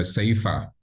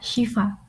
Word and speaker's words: Shifa: I don't mind going with the lady Toastmaster Saifa. Toastmaster. Did I get your pronunciation right? Yeah, Shifa.